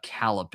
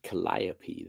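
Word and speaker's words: Calliope: That's pretty messed up story, but um I would probably say uh Calipe in terms of like the themes and also uh how it's aged considering recent events. I'll just say that. I think you have to pronounce it Colliap though. Colliap. Thank you.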